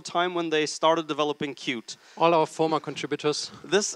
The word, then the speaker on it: Qt: cute company by definition i think majority decides how you pronounce something 90 of our users and our customers and they say qt but it's always really been cute and that's what they wanted that's what we intended when we started and